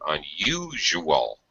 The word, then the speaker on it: unusual: this in this case the U in the middle here has a y sound unusual unusual intellectual individual okay